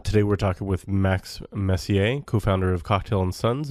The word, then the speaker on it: Messier: doing and very very happy to introduce Max Messier did I pronounce the last name correctly that is correct